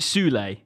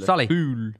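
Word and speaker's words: Süle: Also, as well, I don't know if you guys saw this, but I pronounced his name wrong earlier. Is it Sule, the centre back? Yes, Sully.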